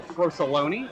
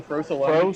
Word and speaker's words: Frosoloni: Paul Frosoloni versus Matt Buckingham. You spelled his name wrong. I did, didn't I? The A is supposed to be an O. There are 3 O's in Frosoloni.